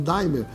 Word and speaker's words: D'aimer: Nós resolvemos nacionalizar a marca, a palavra d'aimer em Daimler, para que todas as pessoas possam, em qualquer parte do Brasil, pronunciar a palavra como ela é lida, Daimler, tá certo?